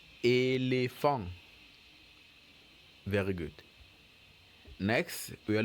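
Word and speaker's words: éléphant: East upon us a so elephant will be pronounced elephant elephant very good next we are looking at a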